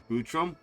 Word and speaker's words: Futrum: Futrum? That's the name of this planet. That's how it sounded pronounced in the local tongue anyway.